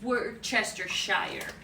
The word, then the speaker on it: Worcestershire: I said we say Worcestershire that I decided I don't think I remember some of one of our salesmen it's work Chester Shire that's like really wasted